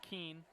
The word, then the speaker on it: Keene: Rebecca Kuhn with the serve there. that's going to be point Tampa. It's Rebecca Keene. Keene, excuse me.